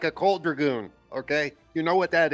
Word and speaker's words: Dragoon: So Panzer Dragon's coming back. I mean, Dragoon. Yeah. Well, okay. we could touch on these slight pronunciations because at the end of the day, you're hating on my country accent. And Isn't there 2 O's in the title?